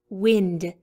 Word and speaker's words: wind: top here we have the word wind the wind is blowing hard moving in it sounds the same as pinned wind the wind is blowing